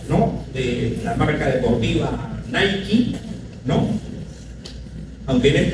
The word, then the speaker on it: Nike: Es Nike. A ver. Nike, la deidad griega. Las Nike eran diosas de la victoria. Entonces, Nike, ¿no? Solamente que en Estados Unidos le pronuncian Nike, pero en griego es Nike.